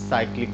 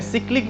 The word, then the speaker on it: cyclic: आज हम लोग जिस पे बात करेंगे वो है साइक्लिक ग्रुप, जिसका जो प्रोनाउंसिएशन है सिक्लिक भी होता है, जिसे कुछ प्रोफेसर सिक्लिक बोलते हैं, साइक्लिक ग्रुप।